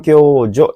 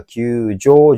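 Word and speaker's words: 救助: Ichiban kyojo ini bacanya kyo salah ya. Hai, kemudian sambang ini kyojo ini juga tidak, yombang juga kyujo, jo-nya panjang ini harusnya pendek kyujo desu ne.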